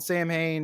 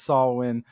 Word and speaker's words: Samhain: thought making it like I know it's saulin but listening to the song you really can't change it to the correct pronunciation of it or just it